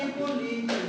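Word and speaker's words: Hippolyte: inglês seria pro paroxítono como é francês a tendência é a tônica se deslocar para o final Então esse cidadão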